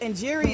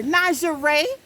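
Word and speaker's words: Njeri: show you how far off that and jerry is spelled n-j-e-r-i right and so and jerry is so it's popular like karen here so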